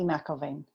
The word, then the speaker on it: McElevaine: let you say your last name it's Heidi McIlvain McIlvain McIlvain I'm yeah I promise I'm like I'm gonna pronounce it correctly next time so Heidi McIlvain